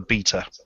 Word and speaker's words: B3ta: I'm on a bound from Rob Manuel to correct anybody who pronounces it anything other than beta. Apologies. Yeah, he's been really funny about that. Well, that's what you get for spelling it with a bloody 3. I know, it's I know. Rhymes with Peter.